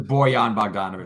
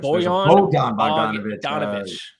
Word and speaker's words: Bojan Bogdanovic: How do you pronounce this? This is Bojan Bogdanovic. Bojan Bogdanovic.